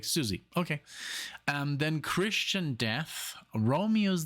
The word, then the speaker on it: Siouxsie: How do you pronounce this? And she's like, Siouxsie.